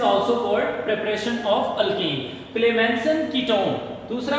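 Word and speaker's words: Clemmensen: Number one क्लेमसन reduction. आप सी को के की प्रोनाउंसिएशन दे रहे हैं। का से इसको प्रोनाउंस कर रहे हैं।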